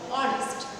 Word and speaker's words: honest: এবার এইচ এর উচ্চারণ যদি উজ্জ্ব থাকে, যেমন অ্যান অনেস্ট ম্যান, এইচ ও এন ই এস টি অনেস্ট, কিন্তু এইচ এর উচ্চারণটা যদি হ হয়, তাহলে আমরা এ করি, আর এইচ এর উচ্চারণ যদি অ হয়, অনেস্ট, হ্যাঁ, তাহলে আমরা কি করবো, তার আগে অ্যান বসাবো।